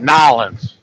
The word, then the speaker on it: New Orleans: They pronounce it Nolans. Got it. Oh my God! Take a look at Josh. Yeah, they spell it Nawlins. Nolans.